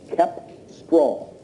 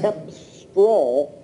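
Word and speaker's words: cepstral: C-E-P-S-T-R-A-L, Kepstral.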